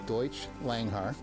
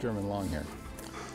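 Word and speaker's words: Deutsch Langhaar: K9 hunting companion this dog is a deuts langar the American pronunciation is German long hair but but don't call him a German long hair the Germans won't like it deuts langar genetically developed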